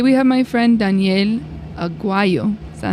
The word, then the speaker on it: Aguayo: Today we have my friend Daniel Aguayo.